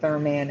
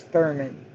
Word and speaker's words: Thurmond: Well, I didn't pronounce it Thurman, it was Thurman.